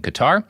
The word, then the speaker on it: Qatar: Also I I mispronounced cutter. I was hoping no one would notice but my conscience caught up with me. So, the two people in Qatar who are uh listening to this, I'm sorry I pronounced your country's name wrong.